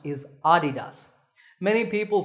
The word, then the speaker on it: adidas: a German businessman so the correct pronunciation is with the stress on the first syllable ah adidas number 8 is the